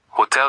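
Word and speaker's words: hôtel: Last rule, H is always silent. Always. Hotel is hotel or is OM. If you pronounce the H, you sound English. So just pretend it's not there.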